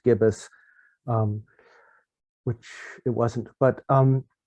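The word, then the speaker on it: gIBIS: graphical so that became g-i-b-i-s pronounced gibbous which it wasn't but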